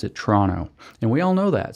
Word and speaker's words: Toronto: should be hooked on phonics and learn to pronounce the letters as they're written, Toronto, but which is how Chrystia Freeland just said it. But the fact of the matter is that Canadians don't pronounce it Toronto.